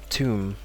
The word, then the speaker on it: tomb: example and next one tomb so it has a strong ooh ooh sound tomb and the tomb the